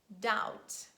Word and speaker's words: doubt: with the letter b letter b is usually silent when it's followed by letter t and we read the words doubt that subtle but please